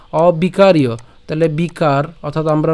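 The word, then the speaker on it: অবিকার্য: তাহলে সে অ এর সাথে আমরা এখানে বিকার, এই যে বিকার, আমরা বাংলা উচ্চারণ করলে উচ্চারণ হবে কি? বিকার্য, বাট আমরা সংস্কৃত উচ্চারণ যেহেতু করছি তাহলে বিকারীয়, ঠিক আছে? অবিকারীয়।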